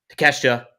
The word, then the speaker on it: Takeshita: Next up, we have that Continental title match, the Fatal 4-Way between Okada, Orange Cassidy, oh my God, Takeshita, and oh my gosh, Mark Briscoe.